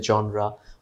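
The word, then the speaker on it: genre: জনরা শব্দ came from French. So উচ্চারণ আমরা ইংলিশে জনরা আর ফ্রেঞ্চের কাছাকাছি জর যে কোনোভাবে উচ্চারণ করতে পারি, অর্থাৎ কোন ক্যাটাগরির লেখা, কী ধরনের লেখা।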